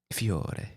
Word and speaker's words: Fiore: Fiore. That's how you actually say it. I say it wrong every time. It means flower, one singular flower in Italian. Mm-hmm. Not to be mistaken with Fiori, which is an I at the end, which is multiple flowers.